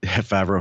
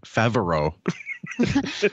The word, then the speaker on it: Favreau: Why does he say Favreau? I know. He adds that syllable.